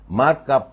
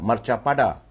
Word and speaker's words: marcapada: marka pada boleh tapi kalau nak dipronounce kan ataupun nak disebut sebenarnya adalah marchapada bukan marka marchapada jadi marchapada ini